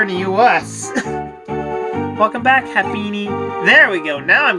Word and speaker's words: Happiny: It's Happiny, not Hampany.